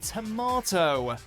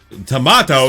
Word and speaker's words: tomato: feelings right number 10 tomato tomato it's a tomato cause more confusion then you'd think tomato so and it's a fruit some people think it's a vegetable it is a fruit but tomato tomato potato potato it's tomato you like tomato and you like tomato